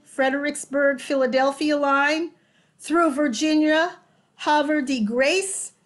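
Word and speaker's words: Havre de Grace: philadelphia line through virginia hover the grace as eastern marylanders pronounce it and the district of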